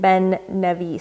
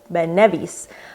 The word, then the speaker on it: Ben Nevis: Then it's the second syllable that is stressed, as in Ben Nevis. So Ben Nevis.